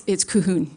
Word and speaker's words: Calhoun: Ms. Calhoun, did I pronounce that properly? It's Cahoon. Cahoon, sorry. Close.